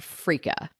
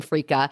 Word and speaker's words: freekeh: side of fries this week we're talking about frea and I know you're like huh what is that so it's spelled f re e k e h and